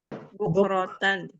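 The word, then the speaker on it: بُكْرَةً: buratanabun mustqir wqumak bu ya bukan tadi bacanya Buk bukannya b bukratan bukratanahahum i coba pelan-pelan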